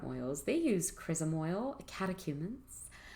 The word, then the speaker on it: catechumens: they use chrism oil catechumens much like the word catechism if you want to think about how to pronounce that and spell it catechumens oil and oil